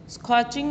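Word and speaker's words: scorching: स्कॉचिंग, स्कॉचिंग में बच्चों are silent है, स्कॉचिंग आप इसको पढ़ेंगे वेरी हॉट, नहायत गर्म.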